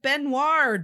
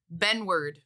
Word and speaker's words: Benward: Resident Gen Z and friend, Jillian, has said that we said Luke Benoit's name wrong. Uh-oh. It's Luke. It's Luke, right? Yeah. Luke Benward. Benward?